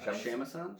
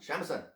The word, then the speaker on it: shamisen: Shamisen? Shamisen.